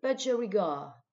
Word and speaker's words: budgerigar: Or, a budgerigar. A budgerigar. A budgerigar. OK. On insiste, on accentue la première syllabe. Syllabe, pardon, bud. Et la dernière, gar.